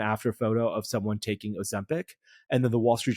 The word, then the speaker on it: Ozempic: in a couple minutes, is this Ozempa or whatever that drug is. There's a great Ozempic. Yeah. I don't know why I can't pronounce it correctly. Ozempic.